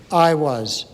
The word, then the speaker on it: Aiwass: That's where Do What Thou Wilt, which has been discussed, came from, was an entity that is spelled Aiwass. There are various pronunciations for it. I'll just say I was.